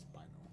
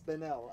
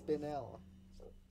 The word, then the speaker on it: spinel: It's pronounced spinal. No, it's spinel. I looked it up. It's pronounced spine. It's spinel. It's pronounced, You illiterate swine. I'm not illiterate, I'm the... Okay. It's spinel. That's what it's pronounced.